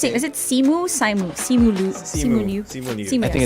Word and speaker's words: Simu Liu: And also I mean, because, how do you okay, pronounce it? okay. Is it Simu? Simu Liu?